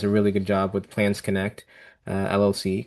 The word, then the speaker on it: Plans Connect: which she does a really good job with Plans Connect LLC, correct? Is that my pronouncing that Correct.